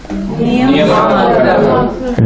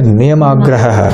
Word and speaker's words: Niyamagraha: Niyamagraha. Don't split it, don't say niyam and then agra, say niyamagraha.